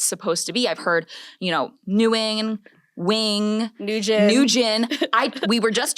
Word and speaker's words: Nguyen: I've heard, Nguyen, Wing, Nguyen.